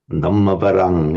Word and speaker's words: Dhammavaram: You just pronounce the M a little bit short. You say Dhammavarang. Dhammavaham. Yeah. Varam. Dhammavarang, yes.